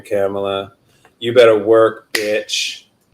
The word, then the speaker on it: Kamala: I will say to Kamala Harris, and that's the correct pronunciation of her name, Kamala.